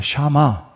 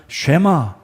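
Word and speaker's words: שמע: 말은 들어 따라하는 것은 이 히브리어 러 샤마 입니다 샤마 이런 많이 들어본 비슷한 발음이 줘 쉐마 샤마 똑같습니다 그래서 샤 말하는 것은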